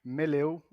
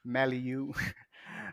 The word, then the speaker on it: Meleu: many international people saying maliu and uh well i'm from brazil and it's portuguese and we say meleo here i'm one of